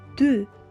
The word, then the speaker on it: deux: l app est encore fort 1 les chiffres deux voiliers noter que la laiterie x à la fin ne se prononcent pas c'est une lettre millette répéter encore